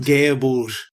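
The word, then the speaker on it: Gáe Bulg: Bullug? Got me. Would you like a hand? Yep, come on. What is it? Gaeabouge.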